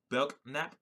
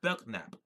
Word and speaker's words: Belknap: Apparently, the K is silent in Belknap. Probably Belknap. Yeah, Belknap. To the supervision of Secretary of War Belknap in 1872, on the Secretary's recommendation.